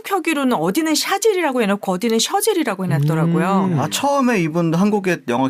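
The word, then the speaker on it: Chazelle: 그래서 한국에서는 차젤이라고. 차젤. 심지어 L이 2개입니다. 그래서 차젤레. 사람들이 오해를 저도 처음에 다미안 차젤레인가 했는데 네. 시상식에서 보니까 데미안 셔젤이라고 발음을 하더라고요. 네.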